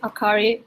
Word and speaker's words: Akari: in Japan um so again my name is akari it's spelled AK a r i and I'm from